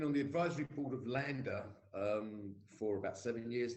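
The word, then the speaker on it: Landr: the core business of that is online mastering lander is spelt l-a-n-d-r and uh it means left and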